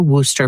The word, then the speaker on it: Worcester: just glad you're here you can say Worcester or Worster but it is Worcester okay darl is it